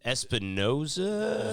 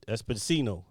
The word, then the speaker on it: Esposito: His name is very complicated to pronounce. It's not that complicated. Espinosa? Giancarlo? Yeah, Giancarlo Esposito.